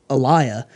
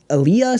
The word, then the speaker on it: Aaliyah: I was like, Aliyah. And I said the name wrong. And she was like, you mean Aaliyah?